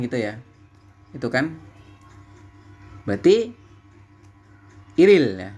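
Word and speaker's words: 일일: ya itu kan berarti iril ya dibacanya adalah iril Il Il dibacanya iril seperti itu yaun tanggal 1 seperti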